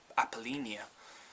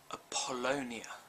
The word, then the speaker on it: Apollonia: I think I said something like Apollina, when I think it's actually Apollonia. Like Apollo, I guess.